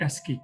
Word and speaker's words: ASCII: For example, the ASI code for uppercase letter A is 65. So this is the coding the ASI code.